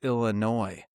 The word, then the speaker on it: Illinois: They literally pronounce the S at the end of Illinois.